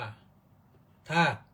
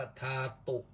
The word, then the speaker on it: ธาตุ: คือ าตุ นั่น แหละ เวลา อ่าน เรา อ่าน ว่า ธาตุ แต่ ้า มี คำ หลัง เ จะ อ่าน ว่า ทาตุ เช่น จตุ ทาตุ ววัฏฐาน เรา ไม่ อ่าน ว่า จตุธาตุ ววัฏฐาน อ่าน ว่า จตุ ทาตุ ววัฏฐาน นะ เวลา เรา สวด ปฐวี